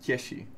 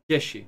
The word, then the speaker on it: Cieshi: correctly pronounced Cieshi. Cieshi.